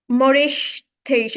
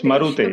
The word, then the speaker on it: Marutesh: I think I don't know how to pronounce his name. Okay, Morish Tesh, I think. And his attempt was Marutesh. It's Marutesh. Okay, Marutesh. Marutesh.